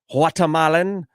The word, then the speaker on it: Guatemalan: Guatemalan. You don't pronounce the G like guacamole.